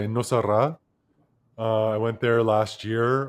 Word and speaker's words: Nosara: where was I, in Nosara? I went there last year or the year Where is before. Nosara? Nosara, in it's like No Sarah is how it's spelled.